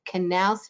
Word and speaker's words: Knauss: Today, she will be speaking about the Sea Grant Knaus Fellowship, pronounced with the K. The fellowship is named after John A. Knaus, whose dedication led to